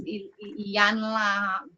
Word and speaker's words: Iyanla: Another person that I really listened to was Iyanla. She's a spiritual motivational speaker. Her name trips me up all the time, but it's Iyanla, and it's a V.